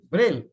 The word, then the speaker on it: Braille: Braille, not Braille. So it's just Braille. All right. This is British pronunciation. All right. Just Braille only.